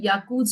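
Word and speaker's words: Jaccoud: But after some years they can get these but this is called yakuz arthritis or yakuz arthropathy. The J is silent here.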